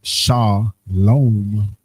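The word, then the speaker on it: שלום: The transliteration is that salom salom which is pronounced sha lom which you see was kind of like that second one they added the vow you go down.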